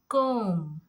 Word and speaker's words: comb: So whenever you get B before M, so you have to become silent with the B.